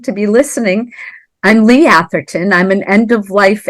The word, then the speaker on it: Atherton: Lee how do you say your last name Atherton Atherton okay that's how I was pronouncing it in my head so awesome so